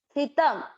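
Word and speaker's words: स्थितम्: तो इसका उच्चारण कैसे हुआ? उत्क्रामंतम, उत्क्रामंतम। स्थितम, ध्यान दें इस शब्द को, आधा स है और थ पे ई की मात्रा थी।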